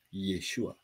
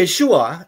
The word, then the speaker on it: Yeshua: di sini ya nah jadi yesua itu adalah kalau kita ngomong y e s h u a itu adalah cara pengucapan dalam bahasa Indonesia karena bahasa Indonesia itu punya nya alfabet a sampai z dan itu bunyinya semua yesua persis seperti orang Yahudi sama yesua ada semua ada